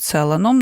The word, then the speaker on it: Целан: дуже часто що його називають целаном напевно думаючи що якщо єврейського походження то це більш доречно так наголошувати попри те що розуміємо що потім жив у Парижі Пауль Целан відповідно теж Логічно що маємо наголос на останній склад чи відомо чому саме